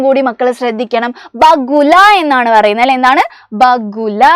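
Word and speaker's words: बगुला: ഓർമ്മയുണ്ടല്ലോ നമ്മൾ എടുത്തപ്പോൾ പറഞ്ഞതാണ് വെള്ള കൊക്കാണ് വെള്ളക്കൊക്കിന് നമ്മൾ ബഗുല എന്നാണ് ഉച്ചാരണങ്ങളും കൂടി മക്കൾ ശ്രദ്ധിക്കണം ബഗുല എന്നാണ് പറയുന്നത് അല്ലെ എന്താണ് ബഗുല എന്നാണ് കൊക്കിന് നമ്മൾ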